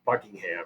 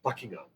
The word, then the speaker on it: Buckingham: you know it's not it's not Buckingham it's buckingam you know so I get